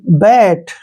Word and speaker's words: bat: जब भी दो कॉन्सोनेंट के बीच में ए आता है तो उसका उच्चारण आई की मात्रा पढ़ेंगे। तो यहाँ पे है BAT, बैट, ठीक है ना।